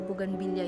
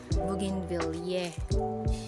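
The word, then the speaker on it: bougainvillea: nung grade 6 ako hindi daw buganvilla yung bigkas doon kasi daw bugin Ville Ewan ko kung bakit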